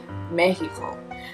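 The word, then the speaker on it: México: was Nina Mexico or rather the correct pronunciation pronunciation mehico so and this is all actually manufactured by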